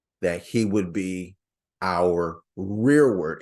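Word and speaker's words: rereward: he would be our rear word it's spelled re e r e w a r d rear word yeah where he not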